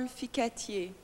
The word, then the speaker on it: Ficatier: Ficatier.